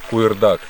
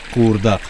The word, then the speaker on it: куырдак: Ну, он у всех произносится по-разному. У нас, например, на гайцев произносится как куырдак. А так у вас тоже есть такое блюдо? Да, то есть буква К с твердым знаком произносится.